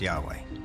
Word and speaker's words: Yahweh: knew God by his intimate personal name conventionally pronounced Yahweh passages with the name Yahweh which in German